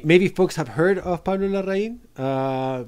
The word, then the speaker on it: Larraín: have heard of pablo larraine uh maybe pronounced lorraine instead of because in english uh you know that's how it's mixed yeah uh and in